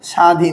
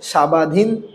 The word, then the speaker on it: স্বাধীন: যেমন দেখেন আপনারা অনেক সময় লেখেন না সাধীন। কি লেখেন? স্বাধীন। এখানে কি আপনি বলেন? সাবাধীন। এখানে কি বলেন? সাবাধীন।